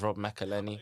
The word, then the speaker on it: Rob McElhenney: So but I got to meet I never know how to pronounce it. I think it's Rob McElhenney.